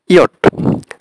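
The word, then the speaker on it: Ja: হয় হচ্ছে ইয়া, ইয়া ইয়া এর স্পেলিংটা হবে হচ্ছে আপনার জে এ, জে এ, তাহলে ইংলিশে ওরা ইংলিশে আমরা বলি জে এ মানে যা, কিন্তু ওরা বলবে ইয়া, ইয়া মানে হচ্ছে ইয়েস।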